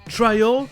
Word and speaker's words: trial: Ça va être un long I dans les mots trial et biology. Oui, vous avez bien entendu, ça rajoute une autre syllabe.